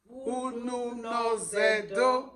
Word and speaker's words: Ununozędo: So, Lavinia, so try to pronounce that, the title of the book. Title? Yes. Okay. Ununozędo. Ununozędo.